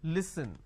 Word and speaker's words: listen: Now the listen word pronounced as l, e, s, li. So let me add a dash after that so that it's easier for you to understand. Okay, it's pronounced as li, s, n. Listen.